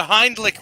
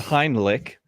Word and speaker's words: Heimlich: knows anybody know the hindlick maneuver the Hindi did you just say did Bobby Nick call it the hind lick yes that's my finishing moving wrestling Canadian pronunciation is the heinlich okay Superman's been uh